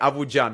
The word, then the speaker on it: Avucan: Avucan, is that correct pronunciation, right? Very correct. Okay, Avucan. I remember that the C in Turkish is the J sound, right?